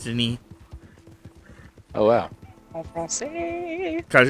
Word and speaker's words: Denis: His name is spelt the same way, but it's pronounced Denis Oh wow.